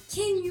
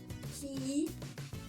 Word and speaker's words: Keanu: Son prénom, c'est comme pour Hermione, il faut diviser en plusieurs syllabes. Son prénom, c'est Keanu. Keanu.